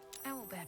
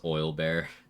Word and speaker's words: owlbear: Owlbear tracks. Its nest must be nearby. Oh, it's 30 for the convo, so... I already got the tadpole convo with Guts Corpse, though. Just pronounced oil bear. Immersion ruined.